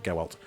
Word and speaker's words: Gewalt: Honestly, thank DX9 for supplying these in their DX9 Gewalt. I know it sounds like Geralt, it's spelled with a W, Gewalt. Blitzwing.